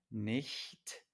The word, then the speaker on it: nicht: Pero en estas dos palabras, nicht, schlecht, la I y la E son anteriores, vocales anteriores y entonces nicht schlecht, ¿vale?